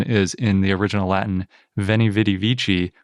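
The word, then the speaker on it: veni, vidi, vici: in the original latin veni vitivici was probably pronounced when he witty wiki oh that's different because not only is the c a k but v's were w's so all that is to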